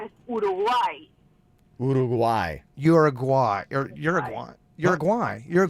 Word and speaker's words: Uruguay: jezelle where are you from I am from Uruguay ugu who we have been here a while wow very nice quick question can some people say you're a way or is that considered you know this guy